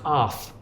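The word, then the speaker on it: Arð: Myself and Mark Deeks, the songwriter from, actually the band is pronounced Arth, but everyone calls them Ard because it looks like a D.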